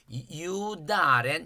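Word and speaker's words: 猶大人: 유다렌 이렇게 읽겠죠. 발음은 이제 여러분이 더 잘 아실 테고 유대인이 아니에요. 요거 다로 읽어요.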